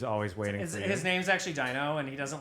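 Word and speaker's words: Dyno: Rhino yeah who's always waiting his name's actually Dino and he doesn't like when you don't say his name right yeah Dino uh let's filled with a wife d-y-n-o Dino is always happy to see you and um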